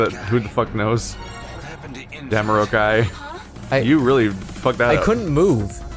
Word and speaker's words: Jamiroquai: Oh, How do you pronounce that band's name? Jimmy Jammers? Do you know who I'm talking about, right? Yeah. Like who the fuck knows? Jamiroquai.